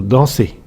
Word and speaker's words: dansez: Enfin, on fait le son E avec EZ dans vous dansez. Prenons un autre exemple.